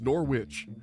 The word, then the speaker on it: Norwich: That should be Norwich. I look at that. That is Norwich. There are two syllables there, but I'm told, "No, it's Norwich." And then I make fun